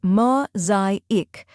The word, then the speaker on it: mosaic: First, we have ma, which rhymes with go and show. Next is zay, which rhymes with day and carries the main stress. Finally, ick, which sounds like ick in tick.